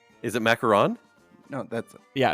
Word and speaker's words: macaron: this wrong but the macaroon macaron macaron is it macaroon or Ron macaron macaron no macron is the French President macaroon is so it is a macaron is it macaron no that's yeah it's